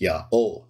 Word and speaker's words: Yaho: which I believe convincingly shows that the Divine name was pronounced Yao it's three letter and